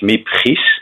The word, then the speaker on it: Miep Gies: secretary, her name is, and I will pronounce it in Dutch, Miep Gies.